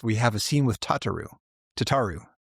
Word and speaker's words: Tataru: I just I I I'm going by Alfino's pronunciation, which is Tataru.